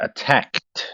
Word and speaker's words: attacked: man first very good attacked so that one there you won't pronounce the E out loud to be attacked attacked